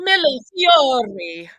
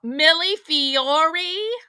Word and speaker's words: millefiori: Millefiori.